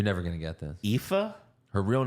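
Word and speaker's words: Aoife: uh Eric Lyra valko's real first name it's pronounced epha huh you're never going to get this epha her real name is pronounced epha but it's spelled you want to even try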